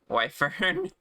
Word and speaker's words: Wyvern: So, you've heard Orca call it Wvern and had to look up if you were wrong or not pronouncing Wyvern how it's spelled and Yeah. Come to Brazil. Yeah, wifern is the best pronunciation.